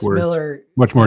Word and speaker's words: Millar: No, he says it's Miller. Millar. It's spelled Millar. Mark Millar pronounces it Miller.